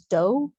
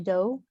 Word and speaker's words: Doherty: last name correct um if we were in germany yes uh but my family it is a german name originally my my family pronounces it as dough so my name is kerry doe and i am currently